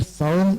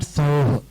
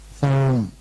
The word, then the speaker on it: Saum: Om Shreem Hreem Kleem Aim Saum Sharavana Bhavaya Namaha Here Saum is the distinguishing syllable here. Not Sauh. Saum.